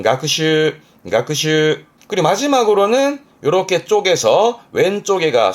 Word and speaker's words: 学習: 발음은 가크슈.